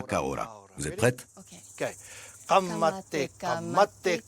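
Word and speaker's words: Ka ora: Il y a quelques mots qu'il faut apprendre à prononcer. Répétez après moi. Kamate Kamate Kaora Kaora.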